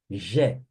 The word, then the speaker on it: je: a voar a voar então a pronúncia G G você se fosse falar Geraldo je je cuidado que não é o j j j Sou Eu J aqui é je eu tenho G eu